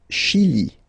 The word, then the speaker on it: Chili: Le Chili. Le Chili. Okay, remember, C-H, sh. Okay, Chili.